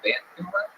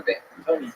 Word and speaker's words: Vancouver: You put the wrong emphasis on the wrong syllable.